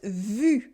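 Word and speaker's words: vues: For instance, these are pronounced vu. Vu, it means seen or views, with a silent E and a silent S.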